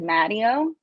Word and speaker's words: Matteo: my last name because when I was growing up in Kansas we said mtio um and then like